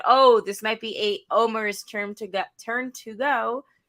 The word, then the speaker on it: Omar: beginning of the show when she's talking about omar omer as we learned his name is actually pronounced omer i said a couple weeks ago i thought